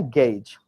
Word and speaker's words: gauge: If you have a gauge, you know gauge, आप लोग बोलते हो gauze, हाँ? इसका real is pronunciation है gauge.